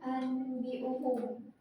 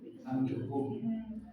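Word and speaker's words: أنبئهم: Ambiuhum. Kenapa bukan anbiuhum? Karena nun sukunnya itu bertemu dengan huruf ba. Jadi bunyinya itu berubah.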